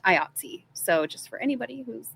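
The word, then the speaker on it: IATSE: They let me know that it's not IATS for the union. It's pronounced IATSI.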